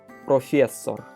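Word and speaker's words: профессор: So first syllable is P, R, O, together. Pro. Second syllable F, F, E, S, together. Fes. Third syllable S, or, together. Sor. So professor, professor.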